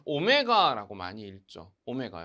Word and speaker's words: 오메가: 폐로 시간에 가장 많이 쓰는 단위 입니다 그래서 오메가 라고 읽고 있습니다 좀 잘 기억하고 계셔야 할 그리스